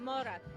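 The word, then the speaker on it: morra: And one of the traditions that the Italian immigrants brought with them is a game called Mora. Did I say it right? Mora, you got it.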